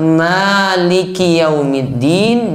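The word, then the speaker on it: مَالِكِ يَوْمِ الدِّينِ: Nggak boleh ubah maliki yaumiddin, dia rubah maliri yaumiddin. Ki dirubah jadi ro, nggak boleh.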